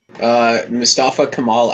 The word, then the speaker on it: Mustafa Kemal: I don't know how to pronounce that fucking name. It looks like Mustafa Kemal something. Mustafa Kemal Ataturk.